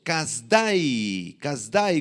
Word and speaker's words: Kasdai: En segundo lugar, los caldeos, Kasdai con acento en la Y al final.